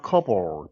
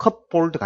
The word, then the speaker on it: cupboard: 여분의 음식이 어디에 있는 in your fridge or cupboard 발음 조심하고 cupboard가 아니고 cupboard 하니까 당신의 냉장고에 있는 이 말이죠.